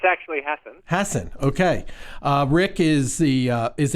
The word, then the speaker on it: Hasen: of this election season is my guest Rick hasten am i pronouncing that correctly Rick it's actually happened Hasson okay Rick is the is a professor of